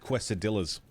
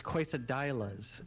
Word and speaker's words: quesadillas: Yeah, that's not how you say it. It's quesadillas. Sorry, my bad. It's a I'm not Spanish, so... I. Yeah, I didn't see with the interesting thing about Spanish is all the vowels are pronounced the same way, so all the I's are pronounced I.